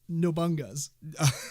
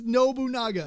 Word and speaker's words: Nobunaga: no but Nagas yeah which is not pronounced no bunga's it is nobunaga yeah so dad um